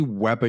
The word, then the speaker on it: Weber: He goes, "It's bloody Weber, you twat."